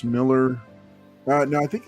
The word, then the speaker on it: Millar: they yep yeah um Mark Millar pronounced Miller uh no I think